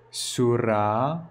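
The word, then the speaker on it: surā: Sura, the r is better pronounced in the way they pronounce in India. R, sura. Sura.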